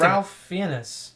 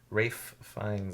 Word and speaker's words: Ralph Fiennes: His I name's liked Ralph Fiennes. I just said Rafe Fiennes. That's his Ray? name. Rafe Fiennes is his real name. Really? That's how it's pronounced.